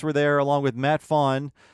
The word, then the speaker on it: Groening: there, along with Matt Fawn. Is that how you say his name? I think it's Fawnin. Fawnin, thank you.